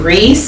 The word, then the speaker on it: Reiss: And then I have these Reiss, I believe you pronounce it Reiss, R-E-I-S-S.